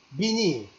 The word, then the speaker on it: venir: El último verbo, le dernier verbe, venir. En français, V, ça se prononce en espagnol B. Venir.